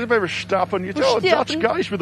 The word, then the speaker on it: Verstappen: We're discussing how to pronounce Verstappen.